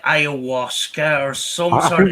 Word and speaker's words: ayahuasca: It's pronounced ayahuasca.